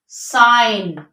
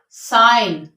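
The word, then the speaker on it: sign: पहले होगा before N जी जब भी एन से पहले होगा तो हम क्या करेंगे उसको साइलेंट कर देंगे for example अलाइन अलाइन साइन साइन डिजाइन डिजाइन foreign foreign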